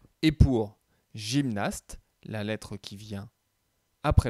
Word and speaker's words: gymnaste: Alors, un gymnaste, le G se prononce J, donc dans la colonne de gauche également.